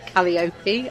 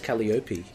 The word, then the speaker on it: Calliope: time Sandman Sandman okay I'm gonna pronounce it Calliope II I know that's wrong and I don't I thought no whoa I believe that's wrong wasn't there a pronunciation in the issue and that's how I took it as well any and he says Kelly Opie yeah so that's all